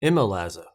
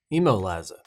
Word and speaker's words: ImoLaza: Emma lazza emoliza it's spelled i-m-o-l-a-z-a I'm pretty sure they probably told me how to say it but I'm gonna call it I'm olazza because that's just how I roll today's video is going